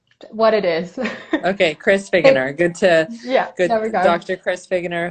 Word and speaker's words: Figgener: excited to welcome Chris tell me how you pronounce your last name I want to make sure I say it correctly er it's just really what it is okay Chris beginner good to dr.